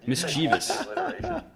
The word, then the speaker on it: mischievous: mischievous monsters I didn't even say it right mischievous yeah what a doozy alright well moving on